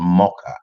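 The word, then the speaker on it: Moka: by her own agency called mocha it's spelled m o k for kilo a for apple she has great ambitions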